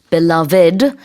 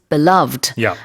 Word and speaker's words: beloved: 3음절로 발음하기도 하고 이음절로 발음하기도 합니다. So when syllables beloved two syllables beloved and both are in most situations.